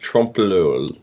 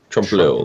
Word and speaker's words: trompe-l'oeil: It's pronounced Trompe-l'oeil. Like, just like that. Trompe-l'oeil. Trompe-l'oeil. It's really quick.